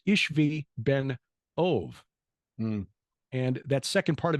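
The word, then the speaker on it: Ishbi-benob: in the name of this uh this guy ishbi benab which actually should be pronounced ishvi Ben ove and that second part of his name should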